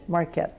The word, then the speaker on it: Marquet: Marquet.